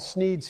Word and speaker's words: Sneed: The shop is called Sneed's Feed and Seed, where feed and seed both end in the sound eed, thus rhyming with the name of the owner, Sneed.